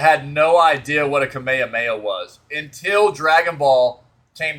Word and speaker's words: Kamehameha: youtube and they had no idea how to pronounce kamehameha and it was they they were calling it oh like the kamama mama and stuff like that